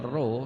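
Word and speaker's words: ρ: massa jenis artinya Pro ini membacanya roh ya ini massa jenis dibaca roh juga tergantung gravitasi dan juga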